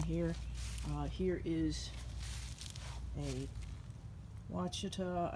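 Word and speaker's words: Ouachita: uh here is a wachita i think that's how you pronounce it uh blackberry thornless which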